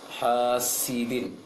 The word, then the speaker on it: حاسد: Pengucapan huruf sin, hasidin, seperti baca ta, ujung lisan ke ujung gigi atas. Seharusnya seperti baca s biasa. Hasidin, sidin.